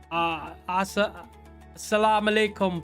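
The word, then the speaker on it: السلام عليكم: I'm not Muslim, but I know exactly what you're saying, but I don't know if I'm Assalamu alaikum, brother.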